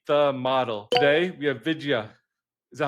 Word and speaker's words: Vidya: Today we have Vidia. Is that how you pronounce it? Yeah, that's really close. It's Vidya.